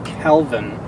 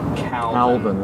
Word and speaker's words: Kelvin: dealing with lights that are 5000 Kelvin not necessarily the 5 000 Calvin it's not a yeah